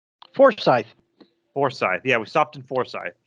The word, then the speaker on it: Forsyth: zooming super troopers there you go okay or f-o-r-s-y-t-h forsyth foresight yeah we stopped in foresight it's about halfway